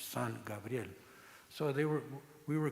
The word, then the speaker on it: San Gabriel: gabriel or gabriel and the pronunciation in spanish son gabriel so they were we